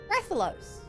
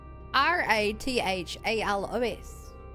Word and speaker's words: Rathalos: Raffos. How do I spell that? R A T H A L O S.